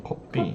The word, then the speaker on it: 커피: Change that F sound to the P sound because in Korean there's no F sound. So say that again. 커피.